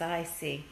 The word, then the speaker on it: Hoosic: And the question is Hoosic, he spelled it incorrectly though, it's Hoosic.